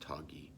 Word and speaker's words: Toggy: Though I think of myself as a sage with age, if you call me Tage, I will be filled with rage, and roll around like a groggy, soggy doggy, for my name is actually pronounced Toggy.